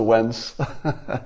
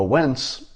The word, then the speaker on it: Wence: Commence the Wence. It rhymes with everything, doesn't it? A Wence, it's like a pence.